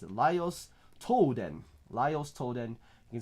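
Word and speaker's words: Laios: and we have one more uh we have lios okay that's how you pronounce it lios toen lios toen you can see him with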